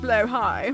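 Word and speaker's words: Blåhaj: collection of the finest blow High wait that's how you say it Blow high it's Swedish it's a Swedish word blue shark and you'd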